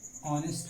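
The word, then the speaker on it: honest: होता है, परंतु वो कॉन्सोनेंट जो है वो साइलेंट होता है। जैसे आपने पढ़ा होगा कि आयशा एन ऑनेस्ट मैन।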